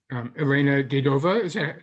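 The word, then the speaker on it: Elena Davydova: And speaking of mentors, your coach, Elena Dedova, did I pronounce her name correctly? Dedova, yes.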